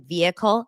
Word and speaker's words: vehicle: If your sheriff pronounces the H in vehicle, move immediately.